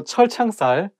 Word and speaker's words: 철창살: So 철창살, it also has two CH sounds, so it should be not easy to pronounce.